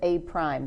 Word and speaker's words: A prime: You pronounce that as A prime.